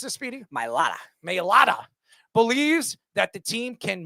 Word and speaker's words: Mailata: Left tackle Jordan, how do you pronounce this, Speedy? Mailata.